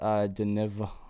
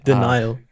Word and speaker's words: Denial: You got the series Deniv. I'm saying it wrong. Uh, Denial. Denial. Oh All yeah. the all Oh yeah, the the V's are A's.